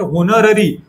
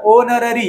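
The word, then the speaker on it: honorary: कारण की याचा वाचताना तुम्ही जर होनर होनर होनर असं याला कधीच वाचत नसत्या होनर याच प्रोनन्सशन होत नसतं याच प्रोनन्सशन होनर असं होत असत्या म्हणजे याचा उच्चार कसा होणार आहे याचा उच्चार ओनररी याला वाचताना ओनररी असं वाचायचं कारण इथ सायलेंट असतो सायलेंट असण म्हणजे काय त्या एचला तुम्ही तुमच्या वाचनामध्ये घेतच नाही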